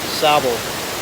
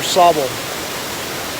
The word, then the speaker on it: Sable: uh savile falls yes it's uh s-a-b-l-e but it's pronounced sabo or sabal pretty cool all right